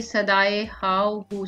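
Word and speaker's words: صدائے ہاؤ ہو: शेर नंबर 1 है, इसी ने एक हरफे कुन से पैदा कर दिया आलम, कशाकश की सदाए हाव हू से भर दिया आलम। इसकी प्रोनाउंसिएशन है सदाए हाव हू।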